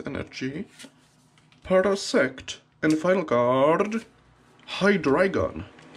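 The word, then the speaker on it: Hydreigon: a high dragon the the only correct pronunciation of this pokemon is hydricon because it's it's hydra from water dry from german world for three and gun probably from dragon or begun another white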